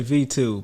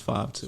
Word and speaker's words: V2: It's people say V2, but the 5 in the V is Roman numeral, so it's 5-2.